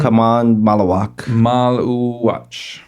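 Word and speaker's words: Khaman Maluach: Kaman Malawak.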